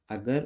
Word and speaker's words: a: तो weak form में हम लोग इसको अ प्रोनाउंस करते हैं, ए एन को अन और द को द या दी। और स्ट्रॉन्ग फॉर्म में जब हम लोग को यूज़ करना होता है तो ए को हम लोग यहाँ पे वीक फॉर्म में अ, लेकिन स्ट्रॉन्ग फॉर्म में इसको हम लोग ए बोलते हैं, ए प्रोनाउंस करते हैं।